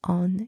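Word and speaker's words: haut: pronounced o and finally o spelled h a u t means high or toe the letter H is silent and again the letters a and u together are pronounced o and also the final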